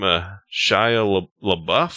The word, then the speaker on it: Shia LaBeouf: Is that how you pronounce the name? Shia LaBeouf?